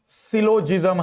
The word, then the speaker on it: syllogism: बिल्कुल जीरो से टॉपिक का नाम सिलोजिम्म है। टॉपिक का नाम सिलोजिज्म है। इसका प्रोनाउंसिएशन आप लोगों में से कई लोग शायद कठिनाई महसूस करते होंगे।